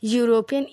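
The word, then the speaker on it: European: ए का इस्तेमाल क्यों क्योंकि जब हम यूरोपियन ई से लिखा हुआ है लेकिन जब उसका उच्चारण हो रहा है तो उसमें या का साउंड आ रहा है तो यूरोपियन क्या हो गया एक कॉन्सोनेंट हो गया कॉन्सोनेंट साउंड कर रहा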